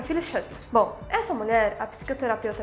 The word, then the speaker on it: Phyllis Chesler: Um S mistura com X e fica Phyllis Chesler.